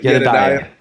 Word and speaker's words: Yedidiah: How do you say it? Yedidiah? Yedidiah. Awesome.